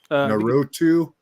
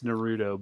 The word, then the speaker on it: Naruto: is that how do you pronoun how you pronounce it Shane narutu nut nut I'm not I'm not like a fan I've never really watched all the anime but but it's it's Naruto but yeah anime you know it's like an